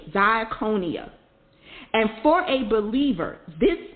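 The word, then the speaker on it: διακονία: its meaning is important ministry in greek is the word d-i-a-k-o-n-i-a diaconia and for a believer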